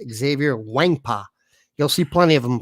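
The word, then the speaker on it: Xavier Nwankpa: names by the way you don't pronounce the n i learned how to pronounce that exactly thought we're going to get them and we didn't it's xavier wangpa you'll see plenty of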